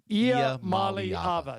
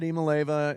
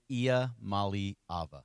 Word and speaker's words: Iamaleava: Iamaleava. So, you were 2 syllables short. I said Imaleva, and you say... Iamaleava.